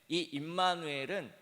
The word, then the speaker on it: 임마누엘: 잘 알고 있습니다 그런데이 임마누엘은 잘 뛰어 읽어야 됩니다 우리가 보통 두 글자씩 깨어있거든요 정확하게 발음하려면임을 먼저 발음하고 마누 그 다음에 엘이라는 단어를 발음해야 됩니다 세 번 세 번에